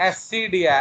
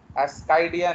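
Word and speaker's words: Ascidia: एस्सीडिया, एस्सीडिया, एस्काइडिया नहीं।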